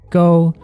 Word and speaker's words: 糕: We talk about this in our Taro Cake and Nian Gao videos, The words for “cake” and “high” Share the same pronunciation, “gōh”, Which is why Turnip